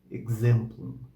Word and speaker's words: exemplum: Depois o X, se ele estiver entre duas vogais e a primeira é o E, ele soa como GZ, z, exemplum, exemplum, exemplum.